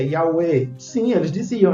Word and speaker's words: Yahweh: Yahvé não está em nenhum manuscrito.